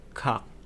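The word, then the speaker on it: 각: Jadi misalkan G terus vokalnya A dan diakhiri dengan G lagi ini dibacanya menjadi kak karena giok di awal suku kata akan dibaca menjadi G dan di akhir suku kata menjadi k. Jadi ini dibaca kak.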